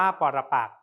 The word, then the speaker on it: ปรปักษ์: ออก เสียง ได้ เช่น ปรปักษ์ อ่าน ว่า ปรปักษ์ แต่ ไม่ เขียน รูป สระ อ่อน และ สะอาด คณบดี อ่าน ว่า